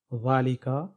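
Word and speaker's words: ذٰلِكَ: بعد الف ہے، ذالک، تو تلفظ میں ذال کے بعد الف ہے، لیکن رسم الخط ایسے ہی ہے۔ ذالک کا رسم الخط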